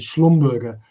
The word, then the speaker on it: Schlumberger: correct pronunciation would be Schlumberger it's a German name from the French German border and uh these guys